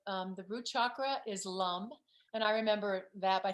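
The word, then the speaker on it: lam: remember that by them they're all just am but they're pronounced like more like hum but it's it's l-a-m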